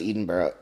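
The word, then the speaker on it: Edinburgh: day and it's in Edinburg Scotland it's pronounced different right it's pronounced Eden Bar oh you're doing on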